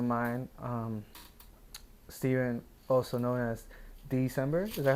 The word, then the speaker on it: DSEMBR: I got a really good friend of mine, Steven, also known as DSEMBR. Is that how you pronounce it?